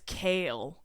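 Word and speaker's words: Chaol: what do you mean his name is kale stupid change it if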